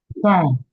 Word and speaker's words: sign: words and just take note that the G is silent. The G Yes, is ma'am. silent in these words. Yes. I'm tired to like it, ma'am. Okay. Sign, Okay.